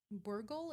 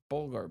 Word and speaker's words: bulgur: Burgle?